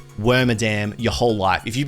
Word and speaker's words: Wormadam: So it was Wormadam, not Wormadam, Wormadam, as in madam, you know?